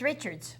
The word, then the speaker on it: Richards: It's Richards.